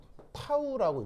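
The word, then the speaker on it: τ: 말이냐 이렇게 표현을 하는데 얘를 읽을 때는 뭐라고 읽냐면요 타우라고 있고요 왜 물리 시간에 토크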